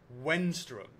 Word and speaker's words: Wenstrom: Oh, and if I'm lucky enough to have this question answered, my name is pronounced Wenstrom. Wenstrom. I never said anything other than Wenstrom.